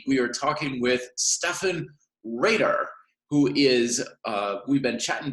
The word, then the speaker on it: Rader: correct there I should have made sure I'm pronouncing as a red or a radar Reiter Reiter Reiter very good okay excellent so you're